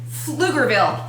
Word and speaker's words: Pflugerville: It's pronounced Pflugerville.